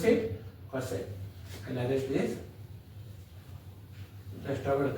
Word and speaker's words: cosec: Cosec. How to pronounce it? Cosec.